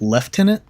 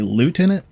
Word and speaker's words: lieutenant: I think about because some places pronounced it pronounce it leftenant and we say lootenant I really want to